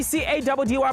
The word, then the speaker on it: CADDY: It's your boy C-A-D-D-Y, pronounced Caddy.